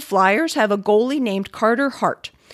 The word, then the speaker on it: Carter Hart: goalie named carter hart philadelphians would typically say this name rhotically however another player on the team and one of the commentators for the team are from boston and have made their pronunciation of it coda hot pretty popular i couldn't tell you